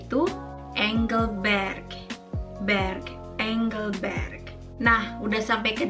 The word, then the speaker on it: Engelberg: Jadi terkadang masih banyak orang yang menyebutkannya seperti Engelberg, yang sebenarnya lebih tepat dibacanya itu Engelberg.